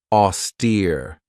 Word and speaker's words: austere: This has 2 syllables and the stress is on that second syllable with that long E sound, austere.